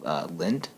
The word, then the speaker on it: Lindt: It might be a little old school, but I'm actually a really big fan of Lindt. Okay. I think that's how you pronounce it.